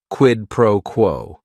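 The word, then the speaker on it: quid pro quo: right here quidd proquo it is three words each word is only one syllable and if you're saying it together the stress is kind of on that first word and that last word quidd proquo what this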